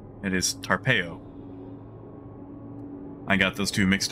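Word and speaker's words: Tarpeyo: medicine called tarpeo turns out it is not pronounced peyote it is tarpeo i got those two mixed up in the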